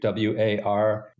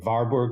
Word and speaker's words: Warburg: the director of something called the Warburg Institute w-a-r-b-u-r-g sometimes called The varberg Institute because it was